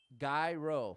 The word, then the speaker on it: gyro: Jackson says euro. You can't just spell it. Gyro. Euro. Uh-oh. Oh, did we get a checkpoint? Hero, gyro. There you go. Gyro is the culturally correct pronunciation, as I've been taught.